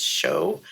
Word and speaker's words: SEO: there's show stickers uh that's how you pronounce SEO is show and um there's a